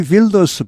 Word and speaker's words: Wilders: 여기 Wilders 발음이 원래 이 네덜란드 말과 독일어는 같은 말에서 나왔습니다. 그래서 이 독일어에서는 W 하면 V로 발음 나죠. Wilders 이렇게 됩니다.